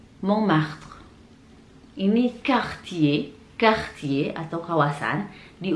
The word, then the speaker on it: Montmartre: Yang terakhir ada Montmartre. Montmartre. Montmartre.